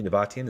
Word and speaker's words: Nabatian: want to make sure am I pronouncing your last name correctly nabatian is that right yeah that's great okay wonderful